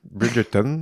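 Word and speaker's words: Bridgerton: beaucoup aimé aussi euh Bridgeton Bridgeton aussi c'est plus comme ça qu' faudrait le prononcer j'ai écouté ça aussi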